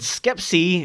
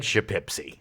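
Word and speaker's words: Schepisi: And Fred Skepsey, who directed Iceman in 1984 and Roxanne in 1987. I like to call him Fred Shapepsi. Shapepsi? That's not how it's pronounced That's at how all.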